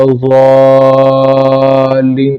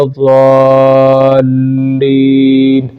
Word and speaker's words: الضالین: ہیں، تو ایک ضاد کو خوب اونچا کرنا چاہیے کیونکہ ضاد پر مد ہے، ولا الضالین اس طرح، اور پھر لام پر شد ہے تو لام کو جو ہے وہ جھٹکا سا دینا چاہیے، ولا الضالین اس طریقے سے اس کو پڑھنا چاہیے۔ آمین، تو اس میں